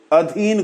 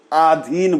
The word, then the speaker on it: अधीन: और अ को आ बोल जाते हैं, अधीन को आधीन बोल जाते हैं, तलाश को तालाश बोल जाते हैं, ए को ओ बोल जाते हैं।